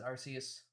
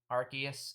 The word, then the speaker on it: Arceus: i am a staunch i am a staunch soft c supporter i believe in arceus uh supremacy okay arceus stans get out of here i know that arceus is technically the official pronunciation but that doesn't make